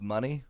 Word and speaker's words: Monet: makes a full paint I believe it's pronounced money money okay I was looking